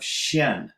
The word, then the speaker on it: 見: are looking at this, they're seeing Jian because that's the standard pronunciation of this character that means to see. So we started with that character. But here it has the pronunciation of Xian, to appear or to manifest.